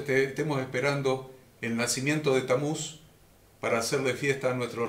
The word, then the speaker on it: Tamuz: demoníacas satánicas llamado tamuz Si quieren anotar el nombre se escribe con t a m u Z estamos para que lo puedan googlear Y averiguar quién estamos y cuando nació tamuz t a m o z Y que nuestro Redentor